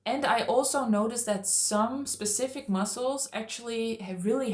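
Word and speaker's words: psoas: And um and I also noticed that some specific muscles actually have really helped to stretch. And one I want to touch on is the soas muscle. So muscle. It is spelled P S O A S.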